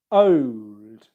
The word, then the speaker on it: old: or the Oxford Dictionary, you'll see it being pronounced old with an O diphthong, okay?